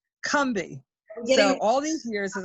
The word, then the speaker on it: Combahee: it correctly which is cumbi as if it only has two syllables cumbi so all these mirrors